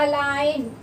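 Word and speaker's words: align: अलाइन, अलाइन में जब हम लिखते हैं तो हम बोलते क्या, अलाइन, ALIN, जी साइलेंट होता है, ठीक है।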